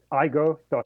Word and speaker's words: Aigo: I don't butcher the uh pronunciation but it's aigo doai um and uh you are a leader in the space um Peter Vos welcome to the program yes thank you it's io.